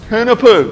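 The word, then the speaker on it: Hunahpu's: Hunapua.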